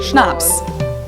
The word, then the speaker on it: Schnapps: we don't even have in German zeitgeist hey schnapps this one I also mentioned in my video